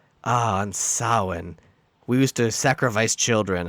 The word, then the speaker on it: Samhain: It's Samhain. Don't be a plebe. Well, then it should be spelled with a W.